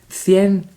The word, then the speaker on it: cien: And then we get to 100, which rhymes with bien. Cien, bien.